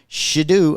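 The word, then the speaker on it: Shedeur: Controversy hits the NFL as the son of Falcons defensive coordinator made a fake draft night phone call to Shidu.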